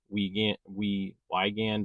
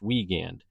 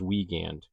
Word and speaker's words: Weigand: I think I pronounced his last name uh We Wand or We Wagand or something like that. I pronounced it differently and he corrected me and said it was pronounced Wagand. So, if you do refer to Jack, make sure that you say his name is Wagand.